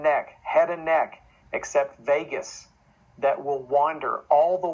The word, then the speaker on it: vagus: vagus nerve is the the word vegas is pronounced vegas like lost las vegas but it's vegas like vagabond um and the word vagabond comes